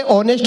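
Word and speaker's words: honest: ये बोला ये ऑनेस्ट को होनेस्ट कहता है, ऑनर को होनर कहता है, इससे समझाओ इसमें एस साइलेंट होता है।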